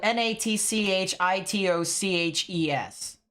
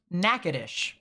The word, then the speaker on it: Natchitoches: right here it's spelled n-a-t-c-h-i-t-o-c-h-e-s all right originally you would think it would be Natchitoches right that's originally what you would think in actuality it's pronounced nakadish interesting right so it